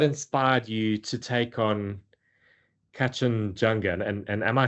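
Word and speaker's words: Kangchenjunga: Um, you know, what inspired you to take on Katchan Junga and and am I saying it correctly there? Ken Junga.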